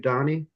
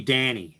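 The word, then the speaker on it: Dhani: So that the kind of thing happened when you interviewed Donnie? Yeah. Um it's it's actually Danny is how he pronounces it.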